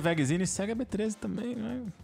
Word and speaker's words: Wegezine: W-E-G-E-Z-I-N-E. Vegzine. Não é Zeni.